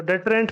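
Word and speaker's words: deterrent: तो डेटरेंट पे एक बार थोड़ा सा काम करते हैं। नाउन और एडजेक्टिव दोनों के रूप में ये यूज होता है डेटरेंट। ठीक है, डिटरेंट आप इसकी प्रोनाउंसिएशन कर सकते हैं।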